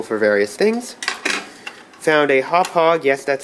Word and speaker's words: Hauppauge: be quite useful for various things found a hauppauge yes that's how you pronounce that wintv PVR 150 card these are